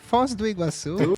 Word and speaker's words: Foz do Iguaçu: I don't know how to say it correctly, but I think you can say Foz do Iguaçu. Yeah, perfect. Perfect. Foz do Iguaçu.